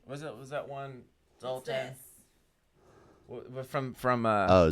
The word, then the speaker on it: Soltan: Is it Zoltan? Yeah, I feel like Zoltan. Isn't that like a It's Ben like the Stiller whole, movie? Like, I think it's Soltan. it is.